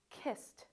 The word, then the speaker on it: kissed: So for all of these words, because they end with a voiceless consonant, all the final EDs are going to be pronounced like T.